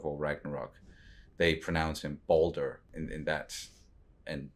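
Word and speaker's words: Baldur: and God of War Ragnarok they prounce him Boulder and in that's and spell it b a l d u r right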